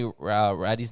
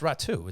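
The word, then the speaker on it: Räty: Did you misspoke and say did you misspeak and say Ratty's name wrong? I thought I said it's pronounced Ratu. It's not pronounced Ratty. It's spelled R-A-T-Y, but it's Ratu.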